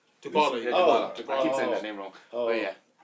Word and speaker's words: Dybala: Diablo. Dybala. Yeah, Oh. Dybala. I keep saying that name wrong.